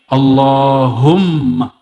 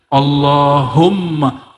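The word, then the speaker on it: اللهم: Allahumma. Gimana cara bacanya? Allahumma, bukan Allahumma. Allahum, dia mesti ditasdidkan.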